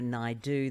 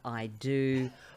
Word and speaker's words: Naidoo: So I would get people not being able to pronounce it correctly and say, instead of Indira Naidoo, they'd say Indira I do, or Indira I don't mind if I do.